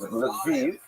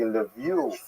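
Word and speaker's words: Lviv: uh this town here which is written in this map as Leviv. That's the Ukrainian pronunciation. This is a map of Ukraine. It would be Levie in the local dialect. It was known as Lev to Poles and Lamberg as the Germans.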